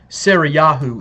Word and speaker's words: Sarah: Her name is to be Sarah, which means princess. It means princess of Yah. Sarayahu is also a way that her name can be pronounced.